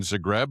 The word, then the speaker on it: Zagreb: Did you start in Zagreb or is it Zagreb?